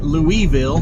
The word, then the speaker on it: Louisville: Said, hey, you have to say it Louisville, which is fine. because Lewis and Louis are both spelled the same, and we pronounce that.